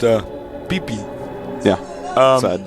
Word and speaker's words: Pippi: is actually pronounced uh peepi yeah um it's it's not quite pippy as we read it in English so it's actually peee